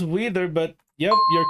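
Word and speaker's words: Weider: was in Grand Turismo weather systems what is wider R we i d e r you pronounce it as wether but yep you're correct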